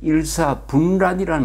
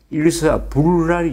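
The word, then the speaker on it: 일사불란: 이런 말 일사 침 일사분란이란 말이 연설문에 나온 적이 있습니다 이게 틀린 줄 모르고 대통령도 그렇게 발음을 하고 그 뒤에 청와대 홈페이지에도 그렇게 실려 있었습니다 일사 분란이 아니죠 받침의 분이 아니죠 일사 불란 이죠 불란 이거죠 일사 불란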